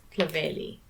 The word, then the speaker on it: Clovelly: She used to live in this area and she pronounced it as Clovelly.